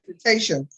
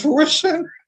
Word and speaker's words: fruition: You want to say fruitation, but it's fruition. I know a couple people said fruitation. There's no A in it though.